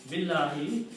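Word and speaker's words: بالله: No, it is easy pronunciation. To make the speech easy, it's easy to say Billahi instead of saying two separate words, stopping after B and you're saying Allahu.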